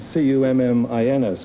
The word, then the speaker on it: Cummins: I am C-U-M-M-I-N-S, Cummins.